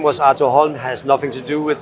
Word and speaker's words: Arthur Holm: So if I were to go back to Australia and pronounce your company name correctly, I would pronounce it Arthur Holm. That would be spot on.